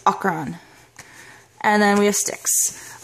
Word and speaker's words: Acheron: how you pronounce it the um proper pronunciation we learn in this book is ochran but we've been knowing him as ash and people have been saying asheron for so long so i would not be surprised if people still insist on calling the sacharon but the pronunciation we have learned is akron and then we have